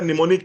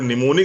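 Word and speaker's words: mnemonic: ना प्रीति जी अगर निमोनिक इसका नाम रखना था तो एन ई एम ओ एन आई सी रखना चाहिए ये एम क्यों लगा दिया बोले सर ये साइलेंट है मैंने कहा साइलेंट है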